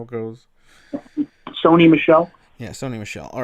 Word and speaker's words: Sony Michel: how do you say his name michelle is that how it goes sony michelle yeah sony michelle all right so 18 points